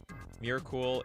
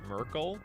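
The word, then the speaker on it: Myrkul: Miracle is pronounced Merkel. Okay, Merkel.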